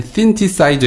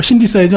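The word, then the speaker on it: synthesizer: 우리가 그 악기 연주할 때 건반 중에 신티사이저 있지 않습니까? 네. 그겁니다. 합성해서 뭐라고? 신디사이저 아닌가요? 아 그렇죠. 그게 쓰 발음이 나갔고요.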